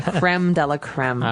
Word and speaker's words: crème de la crème: So don't worry about how you pronounce it. In English, we just say crème de la crème.